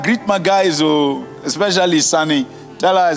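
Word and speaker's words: Sawny: spell it s-a-w-n-y you're calling it sunny like a Ghanaian sunny hahaha Bush South Africans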